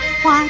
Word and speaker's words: 蛙: 蛙这个字的国语注音是蛙，一声蛙，乌啊哇一声哇。